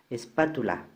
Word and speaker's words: espátula: Espátula, donde ¿en qué sílaba recae la mayor fuerza de voz? Ahí lo tengo marcado con color rojo. En la PA, espátula.